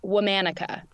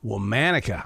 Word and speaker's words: Womanica: of the name of the podcast it is pronounced womanica womanica I like that now where'd that come from